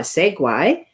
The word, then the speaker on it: segue: and shiny because and this was where my Segway adir that's how you pronounce it I don't know how to spell